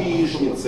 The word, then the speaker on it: яичница: Ну по крайней мере мне гораздо привычнее ш а в слове яичница Вы тоже говорите яичница нет говорите яишница И это правильно и это норма старомосковского произношения то есть Вы видите